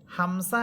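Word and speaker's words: همزة: আর সিফাতগ পার্থক্য হচ্ছে হামজা। এটা শক্ত হরফ। জোর দিয়ে পড়বেন, ধীর করে পড়বেন, শক্ত করে পড়বেন।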